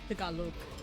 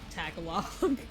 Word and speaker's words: Tagalog: Oh yeah, the proper pronunciation Activating for their combat language mode. is Tagalog. But they say Tagalog.